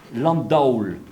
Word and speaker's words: Landaul: C'est-à-dire que si on écrit D-A-U-L à cette époque-là, ça veut dire qu'on prononce bien Landaulle, hein, avec une diphtongue.